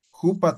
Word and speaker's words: jupa: Jupa también. Jupa es él o ella, el pronombre personal, ¿ya? Si dicen lupa ya no se entiende, ¿ya?